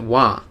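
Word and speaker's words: は: ha H a and when you use it in certain parts of sentences as like a sentence modifier sort of thing they want you to pronounce it wah and that's correct you're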